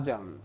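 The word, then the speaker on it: adjourn: इसको क्या बोलते हैं य डी क्या है साइलेंट होता है अपन एडजर्न एडजर्न बोलते हैं सही प्रंस होता है अजर्न ठीक है यहां पर डी क्या होता है साइलेंट अजम इन सब का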